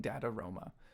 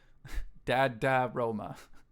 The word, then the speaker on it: DADAROMA: It still always sounds like I'm saying Dadaroma, but I promise you I'm saying Dadaroma. Dad-da-roma.